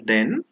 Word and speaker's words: then: can't say he's taller then you will have to say he is taller than so t h a is pronounced than and th e is pronounced then we use then when